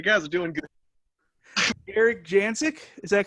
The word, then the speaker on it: Jasek: Erik Jasek, is that correct? Erik Jasek. Jasek. Oh, Jasek.